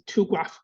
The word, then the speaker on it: TuGraph: We we uh we pronounce it's a two graph.